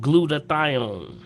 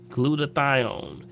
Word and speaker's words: glutathione: good and it also raises this thing called glutathione glutathione which is your highest antioxidant in your body